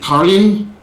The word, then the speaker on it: Caryn: Karyan? No, her first name is Karyan. How do you say that? Karyan. Karyan? Karyan. Ellen Johnson? It's Caryn.